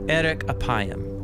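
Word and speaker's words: ארך אפים: and way more interesting in hebrew the phrase slow to anger is pronounced erik apayam or literally long of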